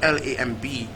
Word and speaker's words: lamb: a and B pronounced the word L AM B is pronounced lamb so that means that let's be is silent in the word and actually most